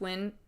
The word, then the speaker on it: Nguyen: So, um it's pronounced win.